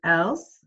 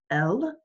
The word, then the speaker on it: elles: Okay, and then the last one right here is ils and elles. We don't pronounce the S, so it would still be il, elle.